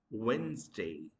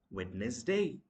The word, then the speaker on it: Wednesday: And uh the next one is uh one of the days of seven days which is Wednesday. We mispronounce the word as witness day.